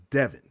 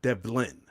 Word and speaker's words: Devin: My name is Devin. You don't hear no L in it. It's not Devlin. Not Delvin.